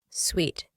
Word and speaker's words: suite: This word is pronounced as sweet. Sweet.